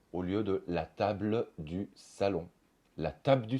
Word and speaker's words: table: une consonne on va plutôt dire la table du salon au lieu de la table du salon la table